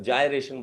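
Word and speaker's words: gyration: और इस रेडियस को नाम, रेडियस ऑफ गायरेशन, इसको नाम दे दिया radius of गायरेशन, radius of गायरेशन। कोई भी जायरेशन बोलता है, कोई गायरेशन बोलता है, मुझे नहीं पता, आपको अपनी जैसी भी आपको प्रोनाउंसिएशन अच्छी लगे वो वैसी बोल सकते हो,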